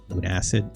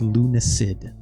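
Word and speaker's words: Lunacid: did I forget that believe it's pronounced Lun acid okay or Lun acid yeah silk song that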